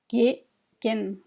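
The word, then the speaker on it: དགེ་རྒན: The second word here for teacher is, try, gegen, gegen, gegen, teacher.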